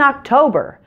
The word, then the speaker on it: October: And notice in October that only the first O is pronounced with a short O. The second O is pronounced with a long O, a different sound.